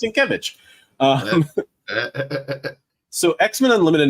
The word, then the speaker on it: Sienkiewicz: It's pronounced Sienkiewicz.